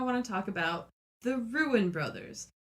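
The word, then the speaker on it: Ruen: to talk about the ruined Brothers I don't know if it's actually pronounced ruin because it's are you en and what it is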